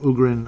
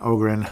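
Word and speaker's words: Öhgren: Liam Ugrin, of course, again, Ogren. I know, I've heard it pronounced both ways. I'll just go with Ogren. I keep saying Ugrin, though.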